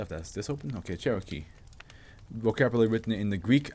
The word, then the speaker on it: Cherokee: you say that joke it's not key right it's not like the Cherokee oh the well let's see what the American is Cherokee Cherokee okay so it's the